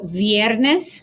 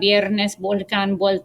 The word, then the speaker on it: viernes: vaca okay and then when the v is followed by i o or u it sounds like the sound so viernes friday vulcan volcano vuelta okay um honestly in at least in my family um most hispanics just say verde bacca biernes they don't really follow